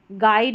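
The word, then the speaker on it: guide: चलिए नंबर 48 पर है GU, इसको ग, अक्सर यू यहाँ पर साइलेंट रहता है GU में, तो गैस, गेस्ट, गाइड और गिटार, तो यहाँ पर देखिए बीच में जो यू आ रहा है ये साइलेंट है, तो GU साथ में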